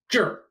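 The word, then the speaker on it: 这儿: by a noun juror and note that the R becomes earth it turns into one syllable JA R is one syllable juror this means here so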